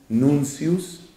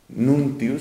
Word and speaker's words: nuntius: uno se llama libertatis nuncius que se escribe con una t ahí en la mitad nuntius se escribiría libertatis nuncius y el otro es